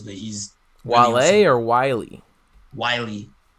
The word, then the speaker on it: Wiley: who that is but he's wallet or wiley wiley spell that w-i-l-e-y from atlanta like he was on